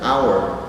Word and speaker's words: hour: An se usa con la H cuando esta es muda. Por ejemplo, vuelve el caso de hour, nos guiamos por la pronunciación. An hour, porque esta hour, que es hora, no suena la H. De hecho, hay una A cuando se pronuncia, una A inicial cuando se pronuncia. Hour, an hour.